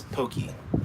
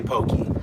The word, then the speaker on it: poke: How do you pronounce pokey? I say pokey.